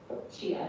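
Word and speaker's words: Tjia: And we decided, so my father's in Chinese name is Chia, but it's spelled the Dutch way, T-J-I-A.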